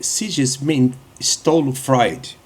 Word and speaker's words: Sigmund Freud: Eh, Sigmon Freud, ou seja, a pronúncia certa é Sesm Stolo Freud.